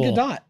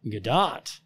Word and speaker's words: Gadot: It's actually Gadot, believe it or not. Gadot. Yeah, everybody's been pronouncing it incorrectly.